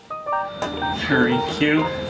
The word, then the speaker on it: Hrynkiw: Hrynkiw. Hrynkiw. Hrynkiw, and it's spelled Hrynkiw.